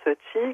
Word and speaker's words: Qi: cas comment s'appelle la péniche Laurent elle s'appelle ti alors ça s'écrit QI et ça se prononce ti comme le souffle vital chinois donc du fengchui